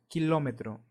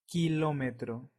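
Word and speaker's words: kilómetro: is Hurricane and another k in Spanish sounds like Ka Ka as in the word kite and an example will be the word kilometro kilometro so remember the sound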